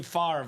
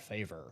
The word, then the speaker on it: Favre: Some called him Favre Favor, but it's definitely Favre. Dom when he was drafted Brett Favor. Brett Favor. The commissioner called him that. It's not good. Not a good look.